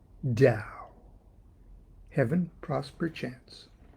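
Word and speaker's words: Tao: give it a name Dow Heaven Prosper chance da hath twin phas with Tay okay da is spelled t AO and day is spelled T it looks like to and T da hath twin phas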